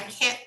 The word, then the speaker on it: can't: can't make it i can't make it we hardly pronounce the final t okay i can't make